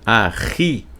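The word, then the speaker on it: אחי: Só que quando tem esse Yud no final aqui, ó, aí se pronuncia Ahi, fica meu irmão.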